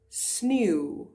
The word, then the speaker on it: sneeu: Sneeuw, sneeuw, snow.